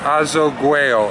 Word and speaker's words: Azoguejo: Plaza del Azoguejo. Yeah, Azoguejo. A-Z-O-G-U-E-J-O. This is the Plaza Azoguejo.